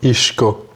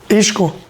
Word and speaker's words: Isco: Cuz it's a Spanish nickname and as such I think there should be you pronounce it as a Spanish as a Spaniard. Isco.